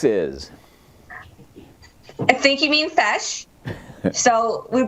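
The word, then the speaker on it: feis: I think you mean fesh. So we pronounce them feshes. F-E-I-S is pronounced fesh, but that's a local competition.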